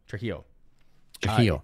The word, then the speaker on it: Trujillo: I can't pronounce his last name. Trujillo.